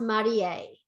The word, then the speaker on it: Marie: um this her name the names are pronounced marie um japanese is pronounced one syllable at a time even though the american clients call them marie but they're both wearing